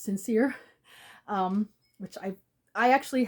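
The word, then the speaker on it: St. Cyr: saint seir St T C yr but it's pronounced sincere um which I I actually have sometimes trouble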